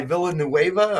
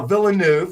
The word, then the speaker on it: Villeneuve: Anything by that guy Villanueva or what's his name? Denis Villeneuve. Oh, Villeneuve. I'm sorry. Excuse me for mispronouncing his name.